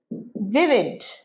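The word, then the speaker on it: vivid: এরপর ভিড ভিড প্রাণবন্ত প্রোনাউন্সিয়েশন ভিড ভ নয় দন্ত বর্ণ দাঁত আর ঠোঁটটা লাগছে ভিড প্রাণবন্ত আমি তার প্রাণবন্ত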